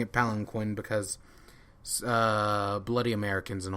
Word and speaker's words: palanquin: sees the palanquin and I know it's pronounced palin keen in the next scene they literally say it's pronounced palin keen but I'm gonna keep pronouncing a palanquin because uh bloody Americans